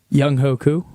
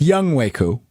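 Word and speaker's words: Younghoe Koo: Can you pronounce the giant kicker's name? Young Hoku. All right, so that is incorrect. It's Young Wu.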